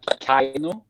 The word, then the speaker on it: KEiiNO: How does a Norwegian prefer to have it pronounced? A Norwegian says it like KEiiNO. Hmm. Like with an A.